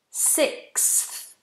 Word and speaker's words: sixth: fourth or fifth sixth sixth so you've got sick three sounds sixth sixth ah Lots coming through